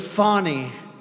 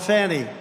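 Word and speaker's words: Fani: been destroyed because of fonny f a n i fny you have to pronounce it Fon it's called Fanny you have to pronounce fny I don't know how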